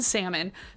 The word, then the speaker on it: salmon: Yeah, let's leave racism, transphobia, homophobia, billionaire wealth hoarding, people who knowingly pronounce the L in salmon, that guy I dated